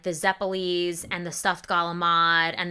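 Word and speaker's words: zeppole: Like I said, the zeppelis in my family we call them zapalas. We've been mispronouncing it literally since we got off the boat.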